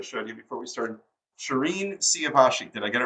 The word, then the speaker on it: Shirin: accent wrong part yeah people say Shireen Shirin like there's different ways to pronounce that name but I've always said Shireen I like that very